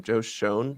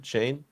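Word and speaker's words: Schoen: Joe, how do you pronounce his last name? Joe Shonne. Shane. Shane. Shane.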